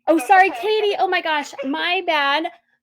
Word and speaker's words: Katy: Today is Wednesday, August 11th, and I am joined by Kathy from Willis. Thank you for being here. Thank you. It's actually Katy. Oh, sorry, Katy.